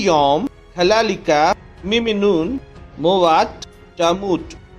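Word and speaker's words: יום: और हब्रू भाषा में दिन को कहा जाता है यम। इंग्लिश में स्पेलिंग कुछ इस तरीके से होगी वाई ओ एम यम।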